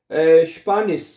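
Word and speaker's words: Spanisch: जाएगा ना, स्पानिश, स्पानिश, स्पा आ गया, फिर नी आ गया, फिर शीन आ गया, ऐसे से ऐसे शीन पढ़ा जाएगा।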